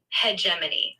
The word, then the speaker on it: hegemony: Hegemani. How do you say it? Yeah, it's one of those words that can sound a bit tricky. Usually, it's pronounced like hegemony. Hegemany.